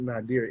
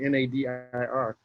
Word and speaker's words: nadir: Yeah, that's why I wanted to focus on Reconstruction and the Nadir, or some folks pronounce it Nadir, Nadir, because there's a lot of